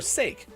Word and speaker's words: sake: Sa, K, or sake. Sake. You nailed it.